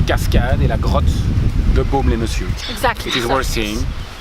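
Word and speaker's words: Baume-les-Messieurs: Do I pronounce it right? Baume les Messieurs. Baume les Messieurs, right.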